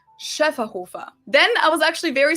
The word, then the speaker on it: Schöfferhofer: flavors, and it's pronounced Schöfferhofer. Schöfferhofer. So the first one has an umlaut, the second one doesn't. Schöfferhofer.